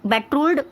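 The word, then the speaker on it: betrothal: दोनों के स्पेलिंग्स में ना ज़्यादा डिफरेंट नहीं होता है, इसको प्रोनाउंस करना थोड़ा सा डिफिकल्ट होता है क्योंकि इसमें बेट्रोड मतलब बेट्रोल्ड, वो बेट्रोड था और ये बेट्रोल्ड, ठीक है।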